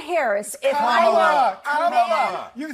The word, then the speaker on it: Kamala: Let me actually pronounce her name right. Kamala Harris. If Kamala.